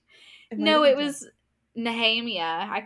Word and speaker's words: Nehemia: No, it was Nahhemia. I called her Nehemiah.